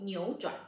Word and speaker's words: 扭转: When we have two third tones together, the first one change into the second.